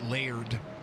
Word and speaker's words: Laird: I think it's Laird because that's L-A-I-R. That's Lair with a D, Laird.